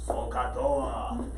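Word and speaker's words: SOH CAH TOA: The important thing, though, Josh, is that you're able to spell it. And how do we spell Sokatoa?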